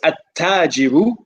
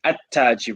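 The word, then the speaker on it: التاجر: a moon letter, whereas at-tajiru, the ta is a sun letter. So we drop the lam pronunciation, at-tajiru, and we put a shadda on the ta.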